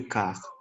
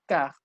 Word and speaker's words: quart: OK, la U ne se prononce pas. Il est 3h15. Suivant, Eddie. Il est 3h moins le quart.